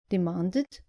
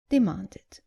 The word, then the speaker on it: demanded: The less common mistake is not pronouncing the id clearly at the end of verbs ending in t or d. Just make sure you pronounce the e clearly.